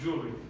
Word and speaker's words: jewelry: It's like if you had like jewel, like J-U-L-ry, jewelry, right? So it's just jewelry, not jewelry, unfortunately. There's the W in there that can make it, like that's why it's hard to pronounce, because you got this W that comes out of nowhere and it's just like in the word, but you don't really know what to do with it, right?